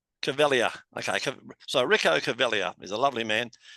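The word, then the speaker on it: Caveglia: Well, the G is silent. 𝐒𝐫𝐬. 𝐒𝐫𝐬.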